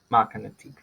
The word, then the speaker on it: magnet: ¿Dónde lleva el estrés? En la primera sílaba, magnet, magnet.